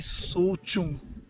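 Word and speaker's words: Tso Chung: ऑन द वे टू सोमोरी सोचुंग lake आपको देखने को मिलेगी। सोचुंग, आई was pronouncing it wrong, इट्स TSO, सोचुंग, CHUNG।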